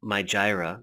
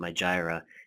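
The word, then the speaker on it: Mijireh: you notice this thing my Gyra that's actually how you pronounce it my Gyra and right here my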